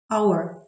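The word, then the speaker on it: hour: Але є винятки, коли на початку буква H не вимовляється, немає звука Х. Our. Honest. Honor. Це слова винятки.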